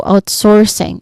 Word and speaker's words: outsourcing: So the pronunciation here the stress is still on the first syllable out.